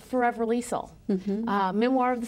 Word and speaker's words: Liesl: here for Talk of the Desert, and that's Liesl, or Charmian Carr.